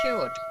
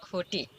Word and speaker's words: cute: cute, not cutty, not cutty, but cute. Because E is silent, it's helping the U sound more longer.